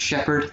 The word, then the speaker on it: Shepard: job after all uh it's pronounced uh it's pronounced shepard thank you how can i help you lily